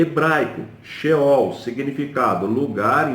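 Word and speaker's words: Sheol: já deixaram o corpo a palavra é fiel ao shell é assim que se pronuncia uma palavra transliterado do hebraico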